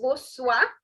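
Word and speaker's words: bonsoir: on this end okay don't say bon it is bo bo see guys if you're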